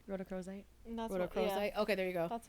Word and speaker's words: rhodochrosite: c h r o s i t e rhodocrosite okay there you go that's what I what